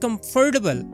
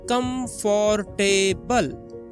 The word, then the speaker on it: comfortable: The word comfortable. Many people say com for table. Four syllables, but native speakers say comfortable. Three syllables.